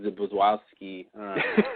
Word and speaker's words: Zbyszewski: I guess we should thank Elizabeth Sarnoff and Paul Zbyszewski. Yeah, that's a rough name. It's ZBYSZ, another Z. EW, another S, KI.